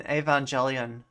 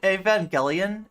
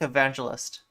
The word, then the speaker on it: Evangelion: control it like an Evangelion I'm sorry is it Evangelion I think it's Evangelion I always want to say it like evangelist you can hear that like